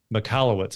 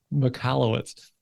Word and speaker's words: Michalowicz: Michalowicz. Okay. Yeah. Oh, that's not so bad. It's spelled jacked up when you look at it though. Yes. Michalowicz.